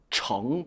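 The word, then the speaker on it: 盛: 翻炒 뒤집고 볶고 加料 조미료도 넣고 정 발음 조심하십시오. 그렇죠? 정으로 읽어야 돼요. 성이 아니라. 물론 흥성하다 할 때는 성이지만요. 밥이나 이런 걸 담다 할 때는 정 菜, 요리를 담다라고 할 때 정 菜, 정판 한 뭐죠?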